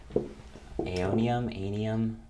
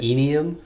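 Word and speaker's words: Aeonium: It's called some sort of aonium. Yeah. Is it? I've heard it pronounced both ways. Aenium? I've heard aenium. It's A-E-O. It's N-I something.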